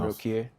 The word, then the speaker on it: Adokiye: So I have Chief Adokiye or Adokiye. What is the correct pronunciation Adokiye.